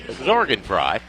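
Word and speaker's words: Sorgenfrei: firste coach Brent ster they will start Brock zorgan fry that's spelled s o r GN F REI but pronounced zorgan fry 6 foot senior at 150 averaging 14 points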